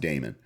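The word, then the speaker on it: Dahmen: looks like dominant but but it's spell it's pronounced Damon um and just following him around but then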